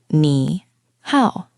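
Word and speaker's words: 你好: Both of these words are actually the third tone. The third tone is the bouncy one, right? Your voice goes down and then back up.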